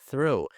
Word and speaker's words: through: Mas basta a gente colocar aqui a língua entre os dentes para pronunciar esse som do th aqui e aí já puxar a língua para fazer o som do R, tá?